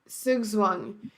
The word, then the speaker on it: Zugzwang: Zugzwang.